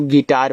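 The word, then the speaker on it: guitar: जी यू जी यू आई टी ई आर। इसको देखो गिटार पढ़ते हैं। तो यहां भी आपका यू साइलेंट रहेगा।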